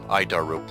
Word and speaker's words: ADIRU: as the air data initial reference unit we pronounce it it's a horrible name but i'll keep trying i daru is the standard in modern avionics it's at